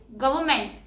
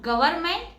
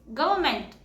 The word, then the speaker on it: government: And the correct pronunciation is government. Not government. It's government.